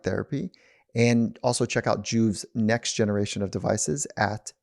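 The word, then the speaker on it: Joovv: stuff and so what i love about what juve's doing is there is natural benefits that come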